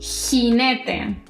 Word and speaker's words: jinete: La J en español tiene un sonido fuerte, como si soltaras aire. por la garganta. Por ejemplo, cuando pronuncio mi nombre es y no importa qué vocal venga después, siempre es ja, je, ji, jo y ju.